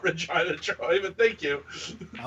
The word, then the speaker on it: Regina: Oh, I will never forget about Troy comes in, it's Regina. Nope, it's not Regina, Troy, but thank you.